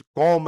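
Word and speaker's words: Comte: वो पहला बंदा अगस्त कॉम है। इसको वैसे तो कॉमते कहते हैं लेकिन फ्रेंच वर्ड है, चूंकि ये फ्रेंच सोशियोलॉजिस्ट है इसलिए अगस्त कॉम कहते हैं, टी साइलेंट है।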